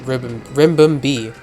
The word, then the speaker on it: Ribombee: Yeah, it's Ribum, not Ribbon. Ribombee. Damn, I think that's how you pronounce it.